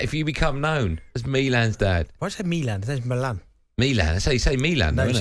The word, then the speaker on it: Milan: Yeah, but his name's Milan, right?